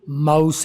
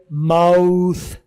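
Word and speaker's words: mouth: नज़र आ रहा है, ये जो लफ्ज़ माउथ है, ना ये माउथ है जो सही इसकी प्रोनाउंसिएशन है, ना ये माउथ है, ना ये माउस है। इन दोनों के दरमियान की एक चीज़ है, वो कहलाती है माउथ। माउथ। से वाली साउंड इसमें आ रही है।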